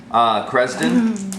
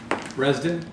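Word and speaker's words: Kresden: Cresden. 12. The K is silent. It's red. Oh yeah, that's right. Resden.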